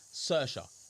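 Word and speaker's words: Saoirse: So s so that's how that is how it's spelled but it's actually cersa si soi mate that's mad is it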